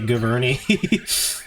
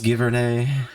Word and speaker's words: Giverny: You know, I would try to say it properly, but I'm all congested at the moment, so I'm just gonna say Giverny. I know it's Giverny.